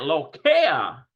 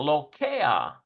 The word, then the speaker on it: לוקח: Let's see if we can get the pronunciation of it. We've got a lamed, a holem. We've got a cough. And we've got a final... לוקח. Listen to that, lokea. לוקח. Wow, lokea.